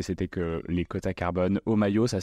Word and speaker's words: Homaio: Omayo, ça s'écrit H-O-M-A-I-O.